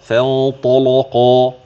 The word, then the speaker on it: فانطلق: فانطلق هكذا، فانطلق فانطلق. وغلظ ورش فتح لام لصادها أو الطاي أو للظاء قبل تنزلا إذا فتحت أو سكنت كصلاتهم.